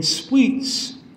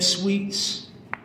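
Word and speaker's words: Sweetz: And Sweets is spelled with a Z, so it's Sweet, S-W-E-E-T, and then Sweets, S-W-E-E-T-Z.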